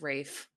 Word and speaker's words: Ralph: And I'm always concerned about Rafe Fine's pronunciation of his You notice I just said fines earlier. I just I just danced around the whole thing. I said Ralph so confidently for so many years.